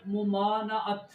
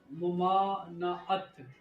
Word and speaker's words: ممانعت: آپ غور کریں گے۔ لفظ ہے ممانعت، ممانعت، میم پر پیش ہے، زبر پر میم پر، پہلی جو میم ہے اس پر پیش ہے، دوسری میم پر ہے میم الف ما، مما،